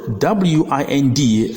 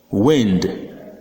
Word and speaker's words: wind: mind find and Hind but the word w-i-n-d is sounded wind or wind depends on the meaning of the word for example wind blows but wine the glass the following words have